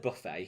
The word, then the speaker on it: Buffet: it very weird that we call it buffet here in the uk um over in the states they call it buffet buffet buffet yeah they pronounce it differently which i find very